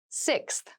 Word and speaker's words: sixth: fifth floor don't you sixth sixth sixth so sixth refers to the number six of something this is a really good word to practice some pronunciation slow down that six that middle part there the sixth book from